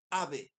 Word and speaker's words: Abe: muy fácil es japonesa se escribe ut a Uta ave eh como ave como pájaro pero con b larga y entonces cuando ella